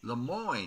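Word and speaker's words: Lemoyne: of a gang called the Le Mo Raiders Le Mo that's how you pronounce it i r any of them let's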